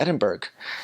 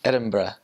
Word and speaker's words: Edinburgh: my calls like oh I'm gonna go to Edinburgh and she's like no never see that again how you say it really oh it's like it's Edinburgh so Edinburgh that's they also